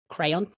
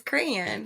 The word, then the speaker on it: crayon: just the one word no crayon crayon cray cray cray it's crayon it's crayon it's a crayon it's two syllables as crayon envelope envelope no it's